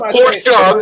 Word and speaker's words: Porsche: The word is Porsche. The E you pronounce.